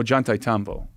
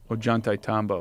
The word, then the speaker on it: Ollantaytambo: Oh, Ollantaytambo. Ollantaytambo. How do you spell it?